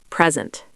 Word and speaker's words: present: Word number 14, present. Present, noun, a gift, versus present, verb, to show something.